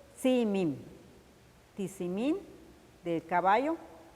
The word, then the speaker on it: Tzimim: representado por el caballo, que en lengua maya se pronuncia y se escribe Tzimim. Tizimín del caballo, Tzimim.